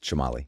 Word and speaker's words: Chamale: Chamale. Chamale? If you were in Guatemala, probably the way you just said Chamale? it. Yeah, but in America, just Chamale.